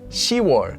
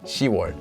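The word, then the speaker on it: 시월: pronounced as shim yuk another one is also that the months for June so the month 6 as well as the month 10 so October are actually U and shiar so not yuk or ship but yuar and shiar but even even more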